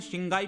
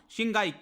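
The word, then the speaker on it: Qinghai: यहां पर प्रोविंस है जिसको कहा जाता है शिंगाई प्रोविंस। मैं शंघाई नहीं कह रहा हूं, शिंगाई QUINGHAI करके होता है, तो शिंघाई प्रोनाउंस करते हैं।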